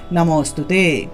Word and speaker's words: নমস্তুতে: তাই এই ক্ষেত্রে আমরা নম অস্তুতে উচ্চারণ করব। যে জায়গাতেই নম হস্তুতে লেখা পাবেন সেটা নম হস্তুতে উচ্চারণ না করে নম অস্তুতে, অস্তুতে হিসেবে উচ্চারণ করবেন।